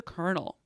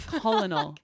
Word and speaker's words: colonel: Why the fuck is Colonel spelled like that? I know, it's That the really worst. pisses me off. The Colonel. Colonel. Fuck off. Are you kidding That's me? Colonel. It's not Colonel.